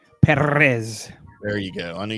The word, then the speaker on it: Perez: 20 is Victor perz I think you have to say it like that like perz can you not roll your RS perz there you go I